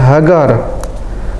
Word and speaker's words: Hagar: ini adalah huruf ibraninya He ini gmail sama Res Bacanya adalah hagar kemudian secara Arabnya bahasa